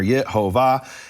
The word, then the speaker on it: Yehovah: of the name are Yehovah. And the point is when when Moshe of Krakow is writing this New Testament for his Jewish audience, he has to put in Yehovah as the pronunciation, otherwise they'll laugh him out of the synagogue.